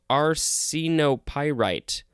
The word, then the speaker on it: arsenopyrite: Next we have arsenopyrite. Arsenopyrite. That's how you pronounce it.